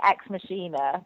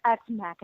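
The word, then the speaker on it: Ex Machina: I've been calling it Xmachina. I know. That's what I called it, too. Everyone's like, "It's X Macker."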